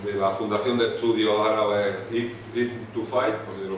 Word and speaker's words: Ibn Tufayl: y fundador de la Fundación de Estudios Árabes Ibn Tufayl, porque lo pronuncio bien. Sí, Ibn Tufayl.